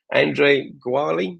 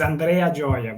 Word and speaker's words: Andrea Gioia: a problem the pronunciation the right pronunciation is Andrea Jia but it's okay it's